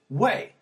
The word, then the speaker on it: oui: know like uh the when you see the word oui on paper to me it's always pronounced we the French yes but Parisian French pronounces it way and since my narrator